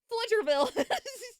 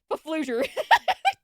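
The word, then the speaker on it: Pflugerville: Flugerville. The P is silent. Oh, I know. I figured it was. It's just funnier. Paflugerville.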